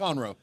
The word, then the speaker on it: Conroe: I met someone today that's from Conroe, how's it pronounced? Conroe.